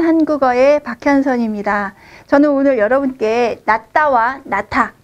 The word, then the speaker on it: 낫다: 우선 낫다에 대해서 설명드릴게요. 발음은 낫다 이렇게 하셔야 돼요.